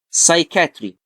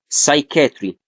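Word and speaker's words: psychiatry: سايكاتري زي ايه؟ سايتولوجي. الاثنين نطقتهم ازاي؟ ساي. الاثنين كان ليهم نفس الصوت، ولكن سايكاتري بتتكتب بي اس واي وسايتولوجي بتتكتب سي واي.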